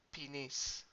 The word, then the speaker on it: ποινής: Κατά της θανατικής ποινής. Remember O, Omicron, Iota sound like E. Ποινής.